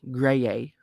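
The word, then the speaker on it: Graeae: the gray ladies cool it's spelled g-r-a-e grey-a from the banshee in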